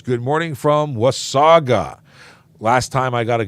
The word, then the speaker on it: Wasaga: morning from Osaka I said is it was Sega or was Saga and it's Wasaga and I will I will make sure I always say it correctly now thank you very much John was Saga not with Sega but so many people